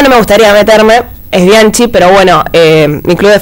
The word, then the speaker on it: Bianchi: Mira, a mí en ese tema no me gustaría meterme, es Bianchi, pero bueno, mi club de fans sabe igual que no me gusta que me digan Bianchi con K, por ejemplo, pero bueno, hay gente